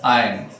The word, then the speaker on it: iron: Here I am pronouncing it as iron, I-R-O-N, which is generally pronounced as iron, but exactly it is iron.